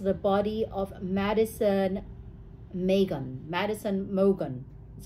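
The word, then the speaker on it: Madison Mogen: bed next to the body of Madison Megan Madison Morgan is how you pronounce it Madison Logan yeah so the DNA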